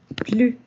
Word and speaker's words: plus: Aquí no decimos la S. Nos quedamos hasta el sonido de la U con el tono de I.